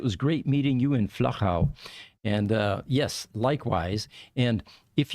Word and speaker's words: Flachau: So it is not Flachau, or anything like that. You have to be able to use the German and the Austrian pronunciation. It's Flachau. Yes, and I would have problems with that.